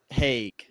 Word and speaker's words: Haig: Midnight Library by Matt Haig. It's got to be Haig, right? Yes. I don't see any other way that would be pronounced.